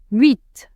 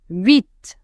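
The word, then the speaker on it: huit: Vit. Vit. The letter H here is silent. Vit.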